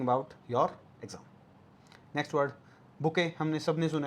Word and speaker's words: bouquet: Next word, बुके, हमने सबने सुना है, स्पेलिंग याद कर लेना, BOUQUET, बुके क्या होता है, फ्लावर अरेंजमेंट, है ना।